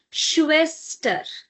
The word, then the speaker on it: Schwester: sister in German is schwester. If you remember in the previous session I've mentioned that whenever you have this together s say ha, then it will give you sure sound. So, Schwester. Now, because after s we